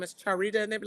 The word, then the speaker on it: Charita: How how what is the correct pronunciation of your name? Because I have heard it wrong before. It's Charita. Charita.